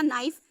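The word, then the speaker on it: knife: आगे भी बताया था नाइफ, के साइलेंट है, एन से ना, आई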